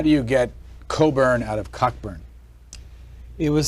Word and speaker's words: Cockburn: Mission through life as your name is spelled cockburn but you pronounce it Coburn um and there are